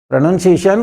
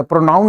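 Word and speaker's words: pronunciation: प्रोनाउंसिएशन ओ होता है, ना कि PRONUN। NOUN नहीं होता, प्रोनाउन नहीं है ये, दे शब्द प्रोनाउंसिएशन एटसेट्रा।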